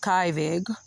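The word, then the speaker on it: Kyvig: Kivig, or pronounced Kivig, winner of the Bancroft Prize in History, Daily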